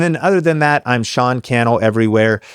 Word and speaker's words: Sean Cannell: And then other than that, I'm Sean Kel everywhere. Sean Kel rhymes with YouTube channel, Instagram, Facebook, wherever you like to be.